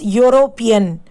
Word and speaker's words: European: You pronounce it, it should be pronounced as European. European. So yo sound is there.